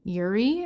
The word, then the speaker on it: Urie: The lead singer of Panic at the Disco, Brandon Urie, I think is how you say it.